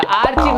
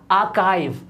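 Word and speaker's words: archive: Next है हमारा, ये तो आर्चीव हर कोई पढ़ता है, क्या होता है? ये आर्चीव हो गया। आर्चीव नहीं होता, ये होता है आर्काइव।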